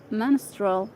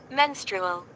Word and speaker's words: menstrual: reproductive Health including men menstral Health let's see this one to pronounce it menstrual menstrual menstrual menstrual Razia